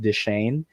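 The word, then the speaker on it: Deschain: dick this i think i think his last name is pronounced deshane it's about d-e-s-c-h-a-i-n if uh my french serves me correctly he's not another person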